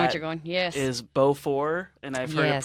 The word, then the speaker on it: Beaufort: is Beaufort, and I've heard it Yes.